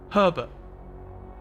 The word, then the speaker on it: Herbert: I don't think it's quite as pronounced as the first R in it, but Herbert. Herbert. I've never really encountered the name Herbert in real life before.